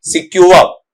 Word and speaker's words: secure: तो इसका उच्चारण जब आप लेते हैं तो ये जैसे शुरू में आप सीख चुके हैं उसी के साथ में आ जाएगा सिक्योर।